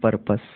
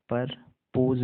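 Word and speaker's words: purpose: double O D good परपस पी यू आर पी ओ एस परपस परपस परपोज नहीं होगा परपस ठीक है परपस सही pronunciation V डब्लू ई वी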